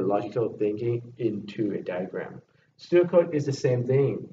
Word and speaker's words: pseudocode: So this pseudocode, they are spelled Pseudocode. When you pronounce, you just silence the P, you just say pseudocode.